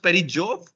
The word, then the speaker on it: perijove: It's pronounced पेरीजोव. Yes. Yes. Okay. Instead of And a periapsis, we make it relevant to Jupiter by calling it a perijove.